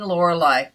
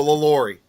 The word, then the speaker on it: LaLaurie: Delphine Lorelei. Oh, Delphine. Oh, Did I say it right? yeah. No, LaLaurie.